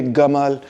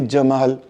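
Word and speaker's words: Gamal: Egyptian से गमाल। वी से जमाल। ठीक है? उनका प्रोनाउंसिएशन इजिप्शन अरेबिया की प्रोनाउंसिएशन थोड़ी मुख्तलिफ है।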